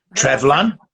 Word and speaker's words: Treflan: Your first recurring role came in the Welsh language series Treflan. Treflan.